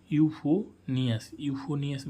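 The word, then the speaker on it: euphonium: पी एच ओ एन आई ओ यू एस यूफोनियम मीस होता है मधुर या मीठा तो गाइस हम उच्चारण के साथ में हमें मीनिंग भी सीखने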